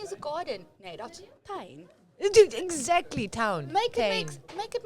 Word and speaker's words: tuin: They don't say toon. Toon, your toe is toon in Afrikaans. Yeah. They say tuin. Oh, tuin is a garden. Nee, that's tuin.